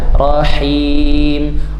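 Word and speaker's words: الرَّحِيم: Keluar h-nya ya. Rahim. Dari mana? Ha wastul halqi. Tengahgorokan di atas jakun pita suara ya. Jadi nafasnya dulu baru barisnya.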